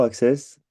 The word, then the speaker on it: Accès: Euh, pour le concours Access, vous pouvez dire accès ou Access. On dit accès maintenant, on disait Access avant. C'est vous qui décidez comment vous le prononcez.